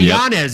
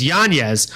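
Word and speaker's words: Yanez: we say this right Nano okay it's not janz anymore it's yanes and he actually changed the pronunciation of this for his child um because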